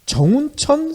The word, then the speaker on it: 정운천: 이때 정운천 새누리당 의원, 정운천 의원은 누군지 기억나시죠? 네. 예전에 미국산 쇠고기 때 이 난리쳤던 분이시잖아요. 발음을 잘 하셔야 됩니다. 예전 총리셨던 정운찬, 찬과 천은 다르죠?